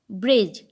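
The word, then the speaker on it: bridge: Next example is ब्रिज। ब्रिज में भी डी को साइलेंट रखा गया है और इसका कोई उच्चारण हम नहीं करते हैं।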